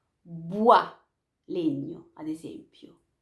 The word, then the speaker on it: bois: Bois, legno, ad esempio. Bois, non dite bois, dite bois.